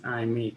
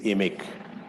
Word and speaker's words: IMIC: may just interrupt albany sorry the pronunciation is emic okay good i'll leave